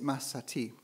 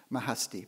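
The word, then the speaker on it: Mahsati: of persia of course medieval woman poet is masati sometimes pronounced mahasti but i think people usually um it's i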